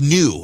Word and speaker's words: Nu: So the Greek alphabet, after Mu comes Nu, and it is spelled N-U, but it's pronounced new.